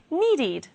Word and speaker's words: needed: past will be wanted need ends in d the past will be needed decide ends in d